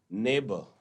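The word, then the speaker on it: neighbour: इसी तरीके से आप देखें सेकंड वाले पॉइंट में, नेबर, डॉटर, फाइट, स्ट्रेट, इनमें क्या कॉमन है? क्या लग रहा है आपको इसमें कॉमन? इसमें GH इज साइलेंट। तो हम बोलते हैं नेबर, हम ऐसा नहीं बोल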